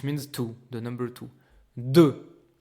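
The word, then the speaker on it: deux: two the number two du there's a x at the end but it's only the spelling okay we don't pronounce the X we don't hear it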